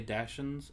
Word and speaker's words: Dachshund: I mean, we say Dachshund, but it'd be a dachshund. Dachshund. A dachshund. Dachshund. Well, because they wouldn't be pronounced the k sound. Dachshund. I don't think they would something like that. It as a k, as a sh.